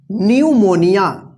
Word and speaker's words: pneumonia: देखिए यहां पे, तो यहां पे पी क्या है, साइलेंट है, PNEUMONIA, इसको क्या पढ़ेंगे, इसको पढ़ते हैं न्यूमोनिया।